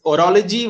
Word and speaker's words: horology: time yeah I mean it's orology with a the H is sort of Silent oh okay it's orology